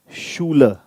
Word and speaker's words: Schule: Another way when CH is going to be pronounced as sh, when CH is after S.